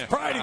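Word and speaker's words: Pridie: Pretty? We got Pretty in here? No, it's Pridey. It's Pridey.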